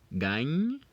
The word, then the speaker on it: gagne: So now we're obviously not going to pronounce the last E's for each of them. And this one right here will be pronounced, if we obviously omit the last E, we're going to pronounce it as gagne. Gagne. The pronunciation ends with just the GN.